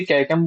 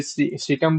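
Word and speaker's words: caecum: इसको कोई कोई कैकम बोलता है, कोई कोई सीकम बोलता है ना। आपके प्रोनाउंसिएशन के ऊपर डिपेंड है ना।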